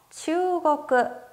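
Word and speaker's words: 中国: 추국. 추국. 추라고 하는 발음을 길게 발음합니다.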